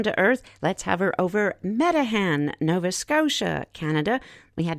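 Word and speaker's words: Meteghan: coming back down to earth let's hover over metan Nova Scotia Canada we had to look that up it's spelled me t e g h n the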